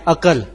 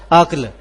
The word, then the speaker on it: عقل: یہ سامنے موجود ہے، ہم جب کہ بولتے ہیں عقل، جبکہ عقل لفظ نہیں ہے، اصل لفظ جو ہے اس کا تلفظ ہے وہ ہے عقل۔ یہ لفظ 3 حروف